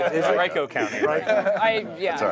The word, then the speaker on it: Henrico: You should be in touch with the activists who are going to take over the, Henrico County. I pronounced it wrong, didn't I? Henrico County.